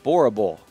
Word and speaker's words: Boerboel: french master but no so it is a boerable am i saying it right boerable b-o-e-r-b-o-e-l lion